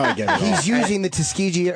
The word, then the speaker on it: Tuskegee: wow okay now I get he's using the tuskiji how do you say it Tuskegee to bludgeon young black males with and he's